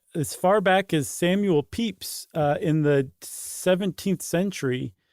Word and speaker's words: Pepys: Yeah, I think um, as far back as Samuel Pepys uh in the 17th century, the famous diarist whose name I finally pronounced correctly, um he tended I think his